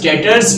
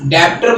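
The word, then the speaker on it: debtors: डेटर्स means डेप्टर मत पढ़ लेना इसको, बी साइलेंट, डेटर्स।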